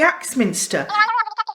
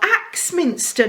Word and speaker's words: Axminster: it's all over the acts Minister no Axminster not ax murderer on the carpet yes